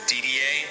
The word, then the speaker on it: Didier: It's pronounced Didier, as in almost for Americans, the letters DDA.